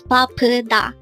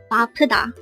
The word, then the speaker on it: 바쁘다: Again, it's BAPPEUDA. This is pronounced as a three-syllable word. The first syllable is ba, second syllable is p, and third syllable is da. Pronounce it with me. BAPPEUDA. Again, BAPPEUDA.